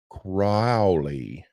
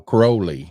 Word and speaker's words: Crowley: to be talking about aliser crowy no Crowley Crowley because it rhymes with holy cuz it rhymes with